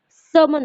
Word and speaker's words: sermon: इसका correct pronunciation सर्मन होता है. इसमें आर की आवाज बहुत हल्की आती है.